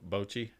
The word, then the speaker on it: Bocce: It's spelled almost like Bocephus, Like- Bochi. Bochi.